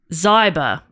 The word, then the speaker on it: Zyber: a fact question from Donna zyber rhymes with cyber Donna has given in